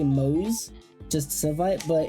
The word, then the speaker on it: Moze: talk about probably the weakest of the characters mosa that's how they say it and I will I I'm probably going say moose just site but it's pronounced mosa which is kind of weird um well you